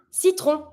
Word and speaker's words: citron: A lemon, we're going to say un citron. Citron, every time you're going to have the on, you're going to be pronouncing those two letters together to make the sound on.